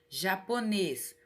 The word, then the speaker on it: japonês: é mais forte aí coloquei um exemplo japonês ó é a última é a última sílaba mais forte da palavra paroxítona quando